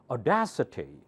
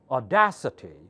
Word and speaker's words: audacity: right city city city so duh would be the primer will take the primary accent audacity audacity okay translation slay louder